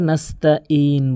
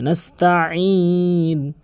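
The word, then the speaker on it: نَسْتَعِينُ: এরপরে যে মারাত্মক লেভেলের ভুল করে নাস্তাইন বলে, মানে হামজার উচ্চারণ করে ফেলে। এখানে আইনের উচ্চারণ করতে হবে হলকের মাঝখান থেকে, নাস্তাইন, এভাবে নাস্তাইন।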